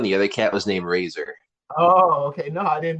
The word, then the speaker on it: Razzer: It's I like to pronounce it razor, like the razor that you cut your hair with.